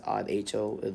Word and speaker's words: rho: The density rho, this is the Greek symbol, which is pronounced as RHO, rho.